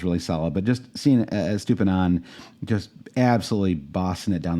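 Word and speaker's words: Estupiñán: Number 2 is Estupinan. I always want to add an extra syllable to his name for some reason.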